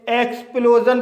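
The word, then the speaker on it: explosion: इसी तरह से एक्सप्लोजन इस वर्ड में वोवेल ओ के बाद एस आई ओ एन आया है। इसलिए एस आई ओ एन का उच्चारण जन होगा। इसलिए इसे एक्सप्लोजन पढ़ा जाता है।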